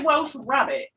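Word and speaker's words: Welsh rarebit: nice grated cheese and Welsh rare bit did you just say Welsh rabbit no not rare rabbit rabbit different it's you can either use HP brown sauce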